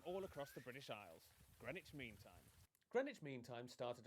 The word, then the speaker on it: Greenwich: is the east london suburb of greenwich where you don't pronounce the w or one of the e's and right here is